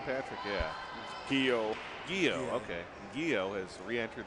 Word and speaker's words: Guillou: Was it Guillou, the pronunciation, yeah. Patrick? Yeah. Guillou.